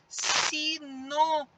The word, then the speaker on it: sinônimo: O no sai com mais intensidade e nele nós temos também um acento, o acento circunflexo. E na hora que nós separamos essa palavra, nós temos uma palavra polissílaba, porque ela tem 4 sílabas. Sinônimo. Ó, o mo é a última, o ni é a penúltima e o no é a antepenúltima. Então, neste caso, ela é uma proparoxítona. Agora é com vocês, pessoal.